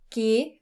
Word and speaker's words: G: G für gut. Let's stop there. We must watch it. The pronunciation is similar to the English word gay.